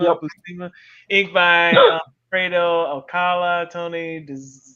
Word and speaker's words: Buscema: Buscema. Yep. Buscema.